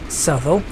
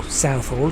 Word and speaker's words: Southall: me if I'm wrong and then we have subtle and Hazen Harlington or Southall depending on how people wish to pronounce it right up almost